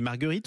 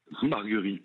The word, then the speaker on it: Marguerit: je voulais vous poser Marguerite ou Marguerie pardonnez-moi Marguerie Marguerie vous voyez je me suis trompé toutes mes excuses Arnaud Margerie vous êtes